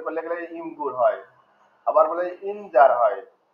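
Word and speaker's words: Imgur: যেমন আপনি উচ্চারণ করলে গেলে ইমগুর হয়, আবার বলে ইমজার হয়, ইমুজার হয়। আপনি যখন ভয়েস শুনতে যাবেন ইমুজার এইভাবে বলবে আপনাকে। মূলত এটা হবে ইমগুর। আমরা যদি বাংলা ভাষায় ট্রান্সলেট করে ইমগুর হয় না ইমজার হয়?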